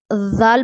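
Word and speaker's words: ذال: जाल प्रोनाउंस करते हैं जब हम जाल अदा करते हैं तो जाल अदा करते वक्त जो है जो हमारी जबान की नोक है ऊपर वाले और नीचे वाले दांतो के दरमियान रहती है जाल जाल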